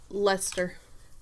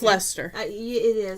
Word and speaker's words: Leicester: ski and a blue how do you pronounce this Leicester but I know it's Lester I think it's Lester it looks like like a sir but I think it's a blue face Lester's what I've heard I want to say